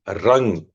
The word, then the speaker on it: रंग: मणिपुर चक्र का बीजाक्षर रंग है और समान मुद्रा में भी रंग आर ए एन जी रंग या आर ए एम रम भी बोल सकते हैं।